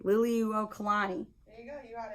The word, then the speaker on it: Liliuokalani: oh i get to figure out how to pronounce this lily liliuo kalani liliuokalani there you go you got it is that